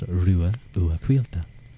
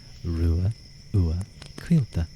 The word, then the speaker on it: Ruadh Ua Quilta: But my name is pronounced Ruadh Ua Quilta. Ruadh Ua Quilta. Ruadh Ua Quilta. I often say, Rua and Ua, like the DH is kind of silent, and then Quilta is, it's like wheel, but with a K,